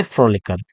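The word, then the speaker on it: frolicker: इसके लिए सी के बाद में के अलग से जोड़ना पड़ेगा, ताकि सी का प्रोनाउंसिएशन जो वो के ही रहे। तो कैसे हो जाएगा? फ्रॉलिक, फ्रॉलिक से फ्रॉलिकर, इसमें अलग से के जोड़ना पड़ा, के प्रोनाउंसिएशन मेंटेन करने के लिए।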